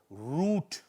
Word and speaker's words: root: pronunciation correct pronunciation now when you see a double ooh sometimes children it's a long wo sound so root r o o t boot long o sound Moon and sometimes a